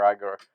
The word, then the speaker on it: Igor: lot well I think eigor took a lot you want to call him eigor or igore it's eigor I like igore it sounds morea pronunciation is eigor that's why I'm gonna call him igore that was a Young